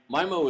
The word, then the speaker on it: MIMO: you say it you guys know the correct pronunciation mimo it's not memo it's michael this is my so in well it depends on how you pronounce things i guess so my mo is multiple in multiple out if i can